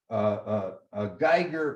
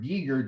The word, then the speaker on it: Giger: talking about even today, Geiger or Giger, depending on how you want to pronounce him, in his creation of Alien, and the significance of that in the evolution of science fiction.